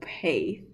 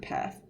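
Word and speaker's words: Peth: Derek path but he he pronounces his name Derek pay which I really don't get because if I I read that like I I would pronounce it path but anyways and then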